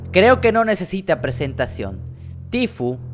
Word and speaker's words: Tfue: que no necesita presentación tifo que así se pronuncia amigos tifus el día